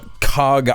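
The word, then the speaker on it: Kharg: probably do that on Kag Island or I believe it's pronounced K Island.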